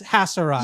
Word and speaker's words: Haserot: So let me just real quick, as I hear you speak, Maurice, is the correct way to say the name Haserot like a Z or S? Haserot.